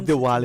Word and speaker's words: Diwali: Even for us, different people It's pronounce Diwali. it different. Yeah. In a southern side, south side, they'll say Deepavali. Okay. So it's kind of different pronunciation. All right. Yeah. But it's a W for not a V that I'm mistaken.